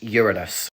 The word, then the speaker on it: Uranus: I put it down to American children, but it is pronounced Uranus, named after the Greek god of the sky.